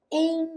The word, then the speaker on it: ain't: Ain't No Sunshine. Esse T do ain't some e a gente liga os dois N's.